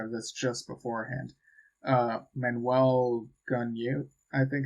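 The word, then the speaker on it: Manuel Gagneux: Manuel Gunyu, I think it's pronounced.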